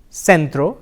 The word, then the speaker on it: centro: bubbles a and E in Spanish the sound is the interdental sir the C can also